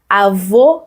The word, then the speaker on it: avô: Avô, c'est le grand-père. Et vous voyez la différence? Je vais arriver plus proche de vous. Avó, ouvert. Avô, fermé. C'est ça.